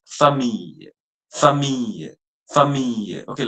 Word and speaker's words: famille: The next word, which is family, don't pronounce it as family. It's famille, famille, famille.